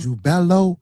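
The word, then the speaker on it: Jubelo: So, these three ruffians, you got the name wrong. It's Jubella. Jubella. Jubello.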